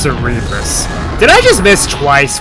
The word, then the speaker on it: Cerebrus: but its name in the card game is Flame Cerebrus. I'm not sure where they got that from. Yeah, it's pronounced Cerebrus.